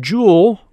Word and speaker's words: joule: That word joule rhymes with school.